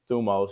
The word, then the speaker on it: Thumos: right up and again it's spelled just like it sounds thumos just you know grade school